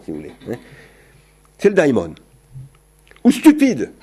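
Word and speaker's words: δαίμων: Daimon, il faut dire, si on prononce bien.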